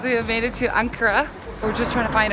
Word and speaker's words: Ankara: to go until we get to is it ankara or ankara ankara tomorrow okay hopefully everything is in that city right yeah so i've got only 24 hours in cara so uh looking forward to uh checking it